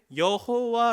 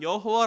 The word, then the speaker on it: 여호와: 수 있습니다 다시 그래서 여호와 라는 글자를 이렇게 했습니다 그리고 성경을 읽다가 라피 든지 유대인이 성경을 읽다가 여호와 라고 하는 이 글자 내 글자 가 나오면 자음 내 글자가 딱 나오면 여호와 라고 하는 발음을 하지 않고 아도나이 주님 이라는 뜻의 아도나이 라고 있고 넘어갑니다 그냥 왜 그런지 아십니까